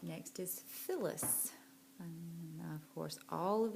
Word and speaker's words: Phyllis: And then what's making the f sound at the beginning of Phyllis? Phyllis. If you said PH is making the f sound, then you are correct.